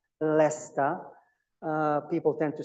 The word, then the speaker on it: Leicester: Pronunciation is Leicester, Leicester.